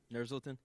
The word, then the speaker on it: Nursulton: Nursulton?